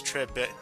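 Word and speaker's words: Très Bien: According to Google, it says it's pronounced as Trebien. Yeah, with a short, slight guttural R, a short E sound, and a nasal N at the end for bien. So Tribien. the R in Trey is not a hard Spanish R, but a softer French R, and the final N is nasal.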